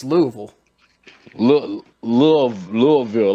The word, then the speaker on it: Louisville: not even louisville it's louisville look love louisville like you you got to say it like it's like it's one syllable louisville does muhammad ali